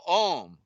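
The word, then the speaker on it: Ogham: see in the middle we see the the gh and the gh is silent so the ohm you know is you see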